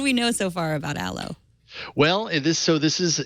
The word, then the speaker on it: Allo: that's not available yet Alo it's spelled Al but but not Alo but Alo like the stuff you put on your skin from the plant it's a new messaging